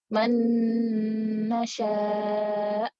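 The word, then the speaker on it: من نشاء: Jadi maksudnya kita masukkan langsung dengan nun. Jadi kita gabungkan nun yang pertama dengan nun kedua secara langsung. Jadi seakan-akan nunnya cuma satu. Seperti pada kata man nasya.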